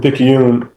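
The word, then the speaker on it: Picayune: Uh so I'm from Pikune, Mississippi. Um that's spelled P I C A Yu N right in between Slidel and Hattisburg.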